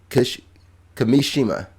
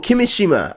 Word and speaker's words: Kimishima: Kimishima. I see what he's saying. Kimishima. See, it goes up. Kimishima. Kimishima. It's like a roller coaster.